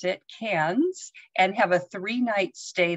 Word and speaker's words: Cairns: fly to cairns australia and that's how they pronounce it cairns and have a three-night stay there and then